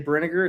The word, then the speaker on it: Brinegar: I always say Brinegar. It's kind of like vinegar.